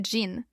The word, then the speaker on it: Jin: Et puis il y a Jein ou Jean comme le prononce souvent le public français.